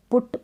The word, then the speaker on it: put: यहाँ पर पुट पढ़ रहे हैं, पट करके नहीं पढ़ते हैं, बुल पढ़ते हैं, बल नहीं पढ़ते हैं।